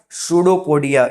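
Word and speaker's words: pseudopodia: याद रहेगा सूडोपोडिया। Spelling P से स्टार्ट होती है बच्चों और पी साइलेंट होता है यहां पे।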